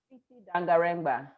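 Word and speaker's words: Tsitsi Dangarembga: Titi Dangarengba. Okay, Yes, okay, the maybe. first name is spelled Tsi Tsi.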